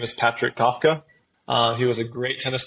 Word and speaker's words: Kawka: It's spelled Kawka, but it's pronounced Kafka.